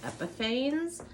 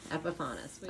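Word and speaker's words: Epifanes: go everywhere ah epas we have verified with epas at the boat show that that is the correct way to pronounce it because some people say epiphanes but it is definitely epifanis all right we're getting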